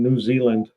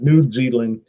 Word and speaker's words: New Zealand: so apparently unfinished projects been uh mispronouncing New Zealand he called it nude Zealand I don't know if